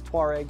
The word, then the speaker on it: Touareg: Americans say Touaregs. Officially, it's Tuareg.